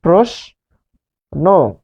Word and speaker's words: প্রশ্ন: রফলা যদি থাকে শব্দের শুরুতে তাহলে সেই অ ও হবে প্রোষ। তাহলে তালব্য ষ হবে দন্ত ষ। এই যে দেখুন, তালব্য ষ দন্ত ষ, এই নিয়ম আমরা এখন পড়ছি, প্রোষ। তারপর ন হয়ে যাবে নো, কারণ ন এর সাথে শেষে কি রয়েছে? এখানে ন রয়েছে, ন সমান ন হসন্ত যোগ অ, এই অ শেষে রয়েছে, শেষে থাকার কারণে সেটা ও হবে। ফলে প্রোষ নো।